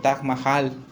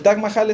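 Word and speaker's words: Taj Mahal: quería platicarles acerca del t Mahal conocen el T Mahal no se pronuncia así pero así lo decimos aquí en México El Tac Mahal es una de las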